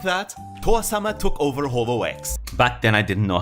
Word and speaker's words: HoloX: And just like that, Towa-sama took over HoloX. Back then I didn't know how to pronounce it. Now I know it's Holox, but back then I still said HoloX.